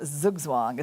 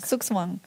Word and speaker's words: Zugzwang: I learned that pronunciation yesterday from Elizabeth, the right German way to say. It's not Zugzwang, But- it's Zugzwang. Sukswang with the S, yeah? Not instead of Z.